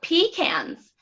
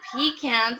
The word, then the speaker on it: pecan: I went shopping in Florida and I asked for pecans and they're like, we don't have pecans. And I'm like, We say pecan. I Yeah, need to cook with the pecans. And they're like, you mean pecans? I had never heard of them as pecans before.